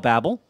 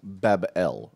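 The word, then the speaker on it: Babel: Jason you know about babble pronounced Bab el you know do we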